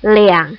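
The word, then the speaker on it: 两: kata2 untuk jam itu tidak menggunakan area tetapi menggunakan kata Leang jadi jam 02.00 Bukan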